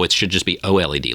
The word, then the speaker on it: OLED: He agrees with me on the OLED, that OLED is pronounced OLED and not OLED.